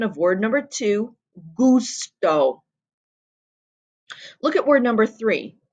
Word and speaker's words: gusto: u we know that this g sound is going to be a hard g sound not a soft g sound hey hey that gives the pronunciation of word number two gusto look at word number